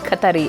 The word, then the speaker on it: Qatar: you'll see like um qatar airways pronounced in arabic katari airways qatar airways like departing